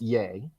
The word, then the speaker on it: Ye: I'll I'll say to ye um pronounced yay by some uh genius